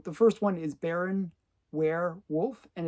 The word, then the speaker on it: Weirwulf: So the first one is Baron Weirwulf, and it's spelled Weir, and then Wulf. So it's like werewolf, but obviously it's werewolf.